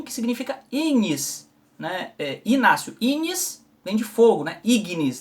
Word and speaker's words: ignis: Inácio, ignis vem de fogo, né? Ignis, né? Ignição, ignis, mas se pronuncia assim, né? Ignis.